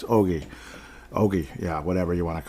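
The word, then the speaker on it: Öhgren: I've heard Ohgren, but once you hear Brock Faber saying Ogie, it's over. It's Liam Ohgren. I wouldn't think Brock Faber would mess up how to say his name, so it's Ogie.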